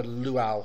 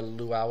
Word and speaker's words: Lua: or luit I'm sorry I don't know why I want to call a luau it's not really a luau it's a Lua and as I said